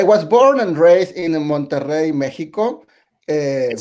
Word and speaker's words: Monterrey: And the Monterrey in Mexico is with two R's. Yeah. That's a triple roll of R's. You have to roll your R's.